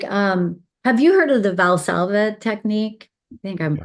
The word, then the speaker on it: Valsalva: So some of the things like, have you heard of the Valsalva technique? I think I'm Yeah. pronouncing that Yes. right. Yep. Valsalva.